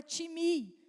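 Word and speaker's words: τιμή: é honra no grego honra vem da palavra timi se escreve time time mas no grego fala timi e significa valorização algo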